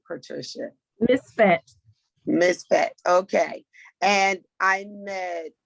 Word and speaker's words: MISFET: MISFET.